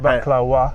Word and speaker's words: baklava: You see, so and they pronounce it baklawa with a W.